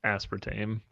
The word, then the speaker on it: aspartame: It is apparently pronounced aspartame.